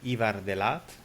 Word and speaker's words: Ivar De Laat: name is renat moo and today I'm with Evar deat I hope I'm pronouncing correctly that's very good actually perfect uh